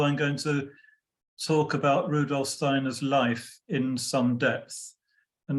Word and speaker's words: Rudolf Steiner: I'm going to refer to him as Rudolf Steiner, which is the kind of anglicized pronunciation. If you move in more Germanic circles, of course, they will say Rudolf Steiner, which is the correct pronunciation, but I'm going to